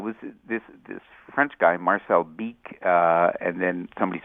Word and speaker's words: Bic: Yeah, it was this French guy, Marcel Bic, and then somebody said, well, take the H off the end of your name and you get Bic, and it's something that can be pronounced in any language.